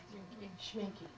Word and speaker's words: Schminke: Schminke. Is that how you pronounce it? S-C-H-M-I-N-C-K-E. Schminke, right.